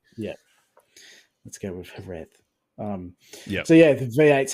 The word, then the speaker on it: Jerez: Like it's, but it's definitely not a J that you pronounce it. But yeah, it's the Z always catches people out. It's like some people like a TH, some people say it like a Z.